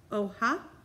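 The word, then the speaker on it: hoja: is going to be leaf and leaf is oh ha so you guys can say otano and for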